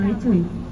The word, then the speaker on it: lechwe: Ya, lecuy betinanya tidak bertanduk, lecuy jantannya itu yang bertanduk. Baru tahu kan tulisannya itu LECHWE gitu. Lecuy ya, dibacanya lecuy.